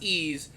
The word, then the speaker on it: Ys: one knows what ease is it's pretty it's pronounced ease but it's why s is how it's spelled